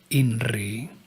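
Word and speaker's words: INRI: seven times the mantra inry the letter I pronounced e will being bring a gentle vibration to the chakras of the head particularly that one associated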